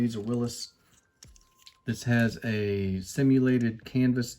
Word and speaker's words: Willys: And if you are interested, I found an old commercial uh that pronounced it Willys. So, that is how they pronounce their name, Willys.